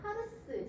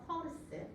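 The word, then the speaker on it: پارس: 이들은 이란 남부의 파르스, 제가 그냥 영어 발음으로 써서 파르스인데요. 사실 페르시아 실제 페르시아 발음은 퍼예요. 퍼르스.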